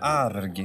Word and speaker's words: arg: Arg, hur är det? Du ska vara, du betonar R-et lite för mycket. Du måste säga arg. Alltså arg.